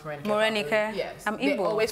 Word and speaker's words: Marenikae: None of my Igbo friends can pronounce Marenikae. Marenikae.